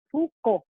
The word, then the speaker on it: Foucault: Fíjense cómo se escribe, no sé si lo alcanzan a ver, pero la pronunciación es más sencilla, Foucault nomás, Foucault.